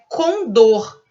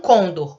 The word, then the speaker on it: condor: Então, é condor, né? E não condor. Condor, uma palavra oxítona.